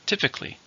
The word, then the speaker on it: typically: is typical in Korea then we have typically same meaning but it's an adverb how many syllables typically for stress in the first he's typically calm but